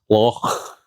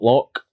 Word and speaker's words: loch: and from multiple people, that's loch, not loch. Loch. Well, many people have apologised for not being able to pronounce that phlegm sound. If you can't, then just say, do a soft one, loch, loch.